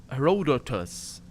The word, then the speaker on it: Herodotus: The classicist is pacing the tent, reading Herodotus Herodotus. Yeah. That's the English pronunciation anyway.